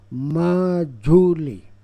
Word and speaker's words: Majuli: island known as majuli pronunciation at ma julie the initial formation of